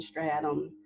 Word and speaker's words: striatum: Striatum?